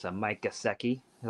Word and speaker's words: Gesicki: It's a Mike Gesicki. Is that how you say his name? Yeah, Gesicki.